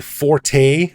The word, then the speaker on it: forte: Now, this is not my forte, or fort, depending on who you ask and how they pronounce that word, but it is yours, Ed.